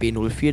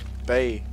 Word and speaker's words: Bay: Du hast was falsch ausgesprochen, das heißt nicht B04, das heißt Bier. Bay. B-A-Y. Ach, Bay.